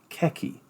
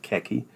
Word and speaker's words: khaki: I came to America that Americans call it khaki now I don't know why I suspect the